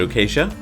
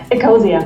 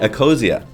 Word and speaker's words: Ecosia: Is it Okacia? Eosia. Eosia.